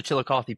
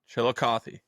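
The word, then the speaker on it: Chillicothe: And how do you pronounce that team? How do you say that? Uh, the uh the Chilikothy Paints. Chilikothy.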